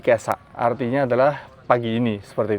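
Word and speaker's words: 今朝: Itu digabung dibacanya menjadi kesa.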